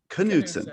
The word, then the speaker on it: Knudsen: elise's last name is knudsen so we're saying the k i thought so just making sure so how the heck do you get elise knudsen to milliken because i